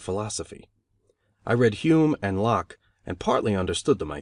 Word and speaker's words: Locke: i read hume and locke and partly understood them i think though i did not know that lock is pronounced in only one syllable till many years after